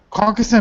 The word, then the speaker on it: Caucasus: Caucasus Mountains. Okay. So if you guys do some Caucus.